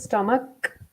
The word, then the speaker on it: stomach: I heard here are a lot of students make mistake on this one this is stomach with the K sound it's not a chart